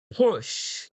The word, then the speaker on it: push: And then the second word, remember, this one should be pronounced strongly. We say pa, pa, push. Push. One more time. Pa, Push. yes, Push. stronger. Push. Push. Okay, that's better. It's not boost, it's push.